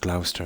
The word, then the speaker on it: Gloucester: But I've got a lot of family in the city of, well, I call it Gloucester. It's pronounced Gloucester, isn't it?